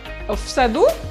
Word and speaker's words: саду: Please pay attention that stress also shift from the first vowel to the last. For like va sadu, from sad, a, from the syllable, from the vowel a, it is shifting to the u, and it will be read as sadu together.